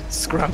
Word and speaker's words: Scrump: Scrump. That's our political action stream. Yeah. We're gonna need to like retroactively. But it's pronounced Scrump.